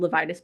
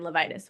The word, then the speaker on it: Levites: it to be called Levitis Plastic Surgery because nobody can say my name. It is impossible. Every I get Levitas, Levitz, Levit, Levi, like everything else other than Levitis, which is fine.